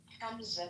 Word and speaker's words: Hamza: Hamza, not Hamza. We have to teach you how to say the ha correctly.